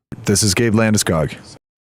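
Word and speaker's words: Landeskog: Gabrielle, one is him speaking American and one is not American. This is Gabe Landiskog. Gabriel Lamuskoo.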